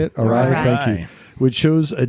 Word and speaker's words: Arai: Arai.